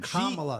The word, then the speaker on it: Kamala: Kamala. It's really easy. Communist, Kamula. That's how you remember.